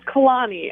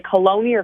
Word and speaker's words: Caloni: is the correct pronunciation it's Kalani and I was going to say when I turned 18 I should have corrected the spelling of my name because everyone mispronounces it they say colonial colony colony yeah okay yeah and